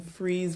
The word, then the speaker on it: Fries: We shot a film in Freeze, Virginia, spelled like fries, border of uh between Virginia and North Carolina and we shot in the Appalachian Mountains during election week.